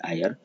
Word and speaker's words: heir: उत्तराधिकारी, तो यही है आयर। आपने आर्टिकल में पढ़ा है और इसके साथ HEIR के साथ आयन का प्रयोग होता है, क्योंकि उच्चारण में आय आता है हिंदी का स्वर वर्ण।